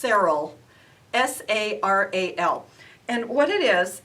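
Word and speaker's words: Saral: product out there called um i think it's pronounced serral s-a-r-a-l and what it is is a um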